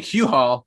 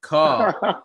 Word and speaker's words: Cole: hoping that was right i was thinking i was saying cue haul but call that sounds better i'll go with call yeah according to the